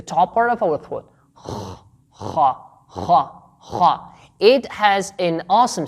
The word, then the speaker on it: خ: We can have the combination of K and H to produce the sound Kha by pressing the top part of our throat like a scratching sound.